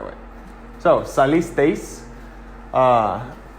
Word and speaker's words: salisteis: So it's not 4 syllables, which would sound like this. Salisteis. You hear that? How it's 4 syllables. Salisteis. That's 4, and that's wrong. Because EI makes a diphthong. So it's 1 sound, which is 1 syllable, which sounds like this. Salisteis. And teis is different than tes. If there was no I, then it would sound like this. Salistes. Salistes, which is not salisteis.